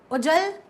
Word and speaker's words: उज्ज्वल: तो सबसे पहले उच्चारण के आधार पर देखिए, उज्ज्वल सही होता है, उज्ज्वल, तो उ फिर दोनों जा आधे और फिर वल, तो उज्ज्वल सही शब्द है, उज्ज्वल।